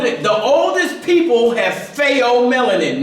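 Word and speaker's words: pheomelanin: What you saying is fo spell that ph. So they o say you trying to bug yourself in some way. P H E O I think it is.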